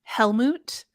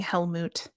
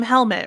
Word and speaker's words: Helmut: It was Grimson, although I love saying Helmut. Yeah. You'll be able to say his name many more times when reviewing the forthcoming Oh, great. Fantastic Beasts movie. Yeah. And we're not calling him Helmet, right?